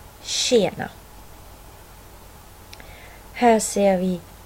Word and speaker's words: tjena: Här har vi några exempel. 20, tjej, tjena.